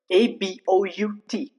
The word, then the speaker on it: about: For example, uh there is a word a b o u t. It's pronounced about about. You see the a sound is not given very great emphasis. Okay. A is not emphasized but will be reduced to just a sound. For example, about it's not pronounced about. Those are both wrong but just about.